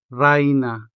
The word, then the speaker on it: reina: And so reina becomes raina, the diphthong I here, from rey to rai. Reina, raina.